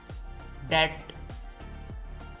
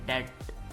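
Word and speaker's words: debt: silent है डाउट शक डेट इसमें भी बी साइलेंट है डेट कर्ज सब्बल लतीफ लैम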